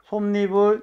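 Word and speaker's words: 솜이불: 솜 이불 나왔네. 자, 솜 이불은 뭐지? 발음이 솜니불 니은 첨가가 일어나지. 그치?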